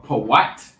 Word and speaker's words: Put: Or Pawat in the Hebrew.